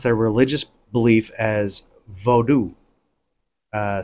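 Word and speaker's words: Vodou: slave trade and shipped to Haiti the Fawn pronounced their religious belief as vodu uh spelled v-o-d-o-u instead of v-o-o-d-o-o okay now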